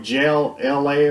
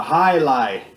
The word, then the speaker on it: Jai Alai: on the original one I called it like jail LA or something weird like that but it's actually called a highlight and this is my